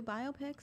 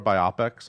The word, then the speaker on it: biopic: to have two biopics. All it's right. okay. We'll get different angles on him. Or biopics, as my friend Linda says. It's pronounced biopic. Hi, Linda. I know you're watching. It's not medical.